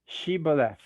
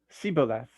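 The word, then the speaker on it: shibboleth: they would tell him then say shebolf but he would say siboleth because he couldn't pronounce it correctly so they would seize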